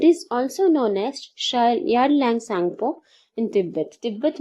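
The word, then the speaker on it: Tsangpo: यारलैंग सांगपो, सांगपो river आपने सुना होगा, सांगपो टी साइलेंट है, सांगपो रिवर.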